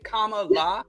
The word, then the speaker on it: Kamala: said it right yeah it's comma because somebody wrote comma the word comma and La Comm La that's how you say a name yes but when I'm